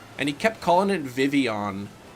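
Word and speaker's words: Vivillon: Sparky cat it's pronounced Vivion so the L is silent so it's not the villain like you don't say the L's in it that's interesting uh what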